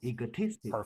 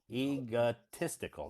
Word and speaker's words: egotistical: tic egot egotistical egotistical egotistical perfect egotistical the third syllable okay OT egotistical egotistical